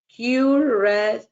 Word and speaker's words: Curaçao: It's a Portuguese word, and under the second C, you'll see an awkward comma, or call it a little tail. That denotes that you have to pronounce that C as an S. Curacao.